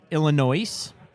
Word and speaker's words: Illinois: being Illinois right now you just take away the S that's all you do straight forward yeah it's